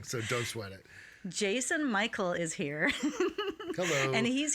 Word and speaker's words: Mical: It's actually Mical. Yeah, Michael, like the boy's name.